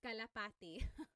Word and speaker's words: kalapati: Local Cry said, how do you pronounce kalapati?